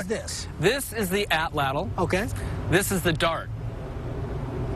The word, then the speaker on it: atlatl: Atlatl, is that how we pronounce it?